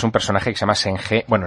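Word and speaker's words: Zheng He: personaje que se llama sene Bueno en realidad si lo tengo que pronunciar a la china es chanha este este chanha para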